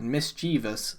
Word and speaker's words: mischievous: I mean, look at the word mischievous. Mischievous. But you just said like mischievous. But it's not mischievous. It's not an IOUS, it's just VOUS.